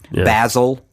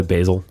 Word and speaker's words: basil: annoyed with their um their insistent pronunciations of words yeah basle so basil yeah yeah like it